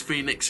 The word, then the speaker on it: Fønix: This is F, the O with the line through it, N-I-X, but it's, of course, it's Fønix in Danish.